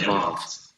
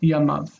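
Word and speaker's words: ימיו: But when we have his days, we have the final syllable, the accented syllable, and this is near, and near is long. So it's near. So it's we pronounce it Yamav. Yeah, Yamav.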